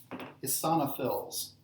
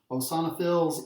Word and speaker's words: eosinophils: right next we have Isana fills if your ap teacher pronounce it differently that's fine hosana fills a sauna fills it's a tomato tomahto you saw fills are